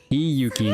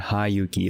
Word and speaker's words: Hiyuki: Hiyuki, not Hayuki. Okay, I'm gonna try to pronounce it more often as Hiyuki.